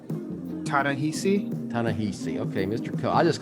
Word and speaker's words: Ta-Nehisi: How do you pronounce his first name correctly? Ta-Nehisi.